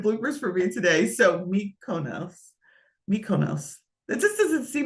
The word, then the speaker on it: Mykonos: So when you think of Greece and you go to these three popular places, Mykonos, I always have a hard time.